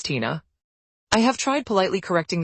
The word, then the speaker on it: Tina: plate and ask me how do you pronounce that it's Tina I have tried politely